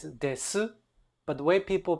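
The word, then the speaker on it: です: it in day-to-day Japanese you don't really say the U you kind of or you make it very very very short as silent as possible so this this so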